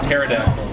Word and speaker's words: pterodactyl: Anna of Turbofish because I don't like to pronounce the P in the Greek words. Like when you say pterodactyl, you don't say pterodactyl, it's pterodactyl. And it comes from pteris, which means wings.